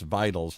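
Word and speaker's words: Veytals: s so all right so spell it again because I keep hearing with W like vitals but it's vitals like with a V right and then v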